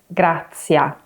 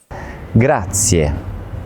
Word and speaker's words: grazie: It's not grazie and it's not grazia. It's Grazie. Grazie. I find that it helps to imagine the last syllable as ye. So try splitting it into 2 syllables.